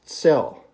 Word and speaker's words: tsel: by dave adamson the word for today is cell cell uh in english we would spell it either t-z-e-l or t-s-e-l cell and it